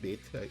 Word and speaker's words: Vite: traditional uh bit application it look like actually pronounce bit i just found out intermutation we have a